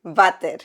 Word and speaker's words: váter: Vater. Vater? Yeah, it's spelled W-A-T-E-R. That's water. No, that's vater. That's not vater. That's water. And that's the toilet where you go do pis and caca. Water? Vater.